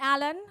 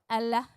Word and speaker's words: Alain: Not Alan, not Elaine, Allah.